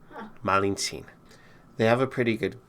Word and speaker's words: Malintzin: from Veracruz the same region of Mexico as Malintzin.